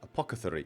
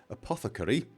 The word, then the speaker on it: apothecary: keep saying it wrong I keep saying apocy I swap the C and the th it is of course Apothecary I I when I